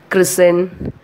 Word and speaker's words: christen: Next, second rule, T is also silent when the words ends in S-T-E-N. For example, christen, C-R-I-S-T-E-N, christen, but we are not stressing the T. We are not pronouncing the T.